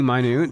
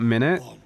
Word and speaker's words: minute: It is definitely minute, not minute.